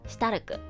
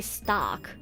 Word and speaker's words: Stark: That's why I say their names in the Japanese pronunciation, so it's like less confusing. Furiren, Ferun, Shitaruku. I can't even say their names in English. Because if I say Shitaruku's name in English, it'd be Stark, which sounds weird.